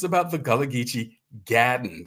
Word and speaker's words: gadden: It's about the Gullah Geechee Gadden. That's the way Gullah people would pronounce garden.